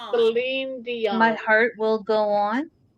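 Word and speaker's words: Céline Dion: Seline Dion. Selene Dion.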